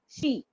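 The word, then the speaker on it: 四: is 4 o'clock now, then it will be pronounced as she. She. Okay. Okay. So four as in yawn or she. Yeah. Okay, ma'am. 4 can be pronounced as yon or she.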